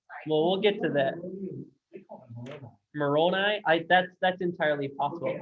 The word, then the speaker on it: Moroni: Moroni.